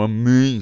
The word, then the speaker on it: amém: Então ia ficar um amém, você não ia conseguir pronunciar se isso aqui fosse um acento circunflexo, tá bom?